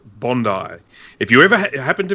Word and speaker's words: Bondi: Bruce tell her how it's pronounced it is pronounced Bondi if you ever happen to be in this